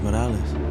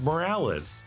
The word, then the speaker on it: Morales: Yeah, the two Mileses now repeat their last name as Earth-42 Miles emphasizes a more Puerto Rican pronunciation, whereas Earth-1610 Miles' pronunciation is more Americanized.